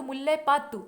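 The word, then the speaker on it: முல்லைப்பாட்டு: तो यहाँ एक बार आधा रहेगा, उसके बाद पूरा रहेगा, तो मुल्लय पातु इसे उच्चारण करेंगे।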